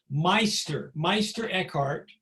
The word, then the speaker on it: Meister Eckhart: So this guy here, his name is pronounced, Meister Eckhart, was a mystic who really is to some degree the father of mysticism.